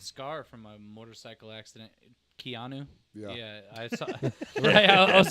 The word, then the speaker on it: Keanu: Keanu.